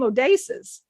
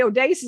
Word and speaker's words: Odysseus: it they wanted you to say the name odasis oh you won't so you weren't mispronouncing it they wanted you to always say Odysseus and put it together because that's how he